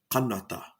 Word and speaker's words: Canada: And then, long story short, found out that Canada is actually pronounced kanata.